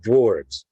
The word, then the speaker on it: dwarves: That's why I'm torn on using actual dwarfs to play dwarves. Notice I pronounced that different at the end. One is an F, one is a V.